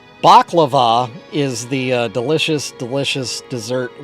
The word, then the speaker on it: baklava: Baklava is the dessert. Balaclava is the face covering. Yeah, it's not sounding good, Doc. You're right. All right. Yes, Ben, you have been saying it wrong. Baklava is the delicious, delicious